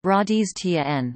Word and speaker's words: Rajasthan: Rajasthan, Hindustani pronunciation, Radiz Tn, listen, literally, land of kings, is a state in northern India.